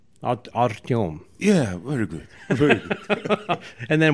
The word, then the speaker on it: Artem: what's well it's uh it's easy to pronounce artem but originally it sounds artem artium yeah very good and